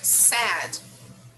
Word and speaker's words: said: Here, sad. Sad. Sad. Sad. Yes, it's completely different from the pronunciation of the verb in the infinitive form.